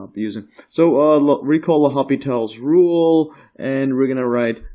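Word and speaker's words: L'Hôpital: hospitals rule but but you pronounce it without the s and some people write it without the S as well but uh this is what I've been growing up using so recall the hopital's rule and we're gonna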